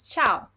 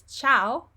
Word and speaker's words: ciao: There is no I when I say it. Cha, cho, and chu. And if we did not have the I, we would read those syllables like ka, ko, or ku. So the only reason why there is an I here is to make the sound ch.